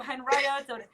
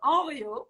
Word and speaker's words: Henriot: it's angry right unreal it's not period or henrietta it's just oreo so that's one and just tell me uh